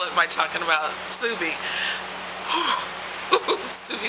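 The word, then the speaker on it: Suubi: Subi, Subi, Subi. At least that's how I pronounce her name.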